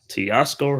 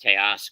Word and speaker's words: Teoscar: the pitch to hernandz and it's a strike Tasco Hernandez 0 and one it's actually pronounced teoscar tar T tcar all right the 01 pitch